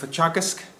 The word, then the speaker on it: Teagasc: I work for Teagasc, that's how you pronounce it.